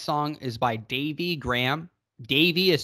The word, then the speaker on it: Davy: Davy is spelled D-A-V-Y, no E there, and Graham, Graham.